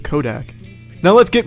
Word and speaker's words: Kodak: Remember, Nutsack rhymes with Kodak.